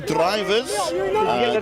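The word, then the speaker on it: Drijvers: And now they're cheering for Louis Drivers, D-R-I-J-V-E-R-S, a 28-year-old attackman. Obviously from the Dutch surname derivative, Drivers. And V is actually pronounced with an F in Dutch.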